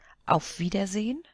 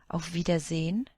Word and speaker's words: Auf Wiedersehen: Auf Wiedersehen, and it's pronounced almost as if there wasn't an E at the end. Auf Wiedersehen, or Tschüss.